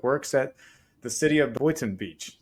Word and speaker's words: Boynton Beach: Today's guest is Mario Guzman, who's the Director of Public Works at the city of Boynton Beach. Did I say it right, Mario? Boynton Beach, yeah. Boynton Beach.